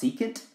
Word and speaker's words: secant: same angle is x over y this is pronounced secant it's the reciprocal of cosine and this is